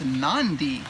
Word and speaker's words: Nadi: Okay, day 1, we arrived in Nadi, which they pronounce Nandi. So I thought there were 2 cities, but it's Nandi is the pronunciation.